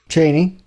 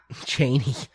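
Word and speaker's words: Chani: How are we pronouncing her name? Cheney. Cheney. Yeah, it's like Dick Cheney.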